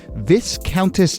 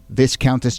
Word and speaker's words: Viscountess: It's the Viscountess. Viscountess, but it's spelled V-I-S, so I don't know. But there's no accounting for spelling.